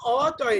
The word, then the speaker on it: অতি: অতি, ও তয় রস্যি না, অতয় রস্যি, কিন্তু অতি উচ্চারণ করছি ও এর মতন, কিন্তু বলছি লিখছি অ এর মতন, অতি।